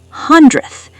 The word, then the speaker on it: hundredth: Hundredth. This one is tough. The d and th are right next to each other.